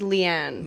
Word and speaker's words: Leighane: to be, like, okay, my middle name's Leanne. Yeah. Right? Yeah. Like, but it's spelled Leighane because it was supposed to be two different words.